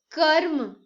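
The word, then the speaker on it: कर्म: Suppose karm. So if you will hear properly or pronounce correctly, you will see that before ma half ra sound is coming.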